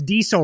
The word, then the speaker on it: Diesel: And the fact that you don't pronounce Diesel right, Phil. There's no Z in there.